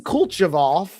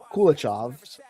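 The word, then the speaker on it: Kulechov: A founder Stani Kulchov Kulichov. I I thought I said it right, but I didn't. Stani Kulichov 2050 vision a $50 trillion shift to abundance assets and defi's next phase sounds nice.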